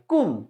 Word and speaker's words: cwm: এবার ডাব্লিউ, দেখো ডাব্লিউ দিয়ে সি ডাব্লিউ এম, উচ্চারণটা হবে কয় হস্যু ম বাংলায় কুম।